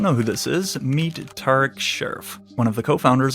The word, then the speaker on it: Tariq: Tarek.